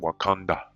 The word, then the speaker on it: Wakanda: lives on the earth wakanda has willed it to be so again native american legends wakanda wakanda tribal affiliation the omaha and pronunciation wakanda just like in the movie all right it says